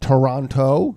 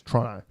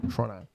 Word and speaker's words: Toronto: For those of you, for Americans, it's not Toronto. That's not how you pronounce it in Australia. It's Toronto. That's how you pronounce it. Toronto. Yeah, miss half the O's, add a couple of extra R's.